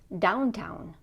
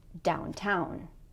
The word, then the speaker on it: downtown: So for example, with the word downtown, the correct stress is stress on the second syllable. If we say it the other way, it's going to sound like this: downtown, or outside, or upstairs.